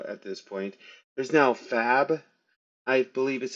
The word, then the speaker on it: Fab: this point, there's now Fab, I believe is how it's pronounced, like short for fabricate, I imagine.